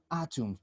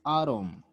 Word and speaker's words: atom: okay very good okay remember this pronunciation is british it's british pronunciation foreign atoms but in english from united states is adam atom okay so it there